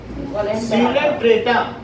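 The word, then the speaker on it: Coelenterata: Hydra के ऊपर सीलेंट्रेटा, सीलेंट्रेटा। ओ silent है।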